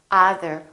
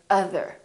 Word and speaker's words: other: or son my son or other we don't say either we say other or done done d-o-n-e